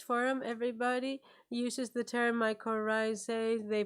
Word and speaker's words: mycorrhizae: that in this forum everybody uses the term mycorrhizae they pronounce it properly Nobody messes it up no